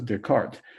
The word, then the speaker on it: Descartes: I don't know what happened to DES in front of his name, but it's called Cartesian, as Cartes, or more properly pronounced as Descartes.